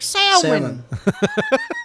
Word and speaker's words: salmon: L is silent.